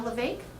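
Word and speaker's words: Levesque: LeVake.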